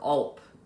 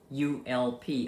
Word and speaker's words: ULP: He calls it your ULP, rhymes with gulp, ULP, upper limit problem.